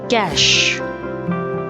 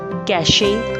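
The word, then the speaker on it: cache: is related to computers cash cash it's not cashy or catchy it's called cash hierarchy hierarchy many people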